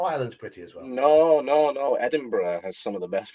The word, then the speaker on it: Edinburgh: Edinburgh. Edinburgh. There we go. Why pronounce letters?